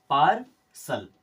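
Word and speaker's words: partial: दिया करते हैं तो टी के बाद जब भी आई और ए साथ में आएंगे तो उसका उच्चारण करना है आपको स की तरह कुछ एग्जांपल समझ लीजिए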